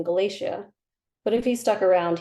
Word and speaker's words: Galacia: He pronounced the middle syllable wrong, Galacia rather than Galacia, but if he stuck around, he'd hear the unusual name enough to correct himself eventually.